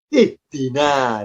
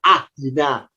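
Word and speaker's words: اهدنا: Kenapa kita terbiasa bacanya ihdina? Kok tidak ahdina? Kok tidak uhdina? Ya karena huruf ketiganya kasroh. Karena dalnya kasroh, alifnya ikut kasroh. Maka kalau diharokati, alifnya, harokatnya kasroh, berbunyi ihdi. Ihdina siratal mustaqim.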